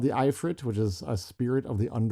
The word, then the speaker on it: ifrit: As far as I can tell, it's the ifrit. The ifrit may be the most correct way to say this, but some people say ifrit or ifrit or ifrit. So choose your poison.